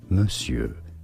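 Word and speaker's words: monsieur: But mure is how it is said.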